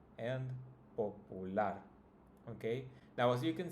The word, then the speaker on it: popular: Now if you notice, it's also the last, right? The last syllable that's pronounced the strongest. Celular, familiar, particular, peculiar, and popular.